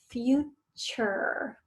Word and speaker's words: future: Number 3 for today is future. Remember that chur we talked about last time? That is that T-U-R-E makes that chur sound.